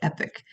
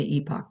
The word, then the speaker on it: epoch: I think Americans mostly say epic and Brits say epoch, but whatever.